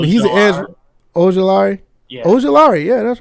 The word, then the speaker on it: Ojulari: Aziel, I don't know how to pronounce that name, but he's an edge. Ojulari. Yeah. Ojulari.